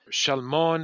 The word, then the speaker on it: Shalmon: is the father of Shalmon, if you say it correctly in the original Hebrew, who is the father of Boaz.